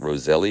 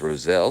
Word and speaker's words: roselle: roselle and thank you i was corrected on how i was pronouncing this i was calling it roselli apparently the the socially acceptable way to say it is roselle so i want to